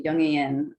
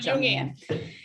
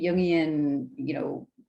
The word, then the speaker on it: Jungian: masculine, which is a Jungian, which is a word I just learned how to pronounce that. I used to think it was Jungian. Yeah, it's like a Jungian, consciousness archetype or something like that.